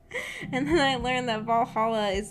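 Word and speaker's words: VA-11 Hall-A: up that game and i pronounced like va 11 hall a and someone was like it's pronounced valhalla or valhalla or however it's said i was like what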